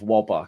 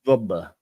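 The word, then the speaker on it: Wöber: do I do love wobber can't lie wobber is how do you say wobber genuinely wber vber vber wber ma Max vber like V yeah yeah that won't matter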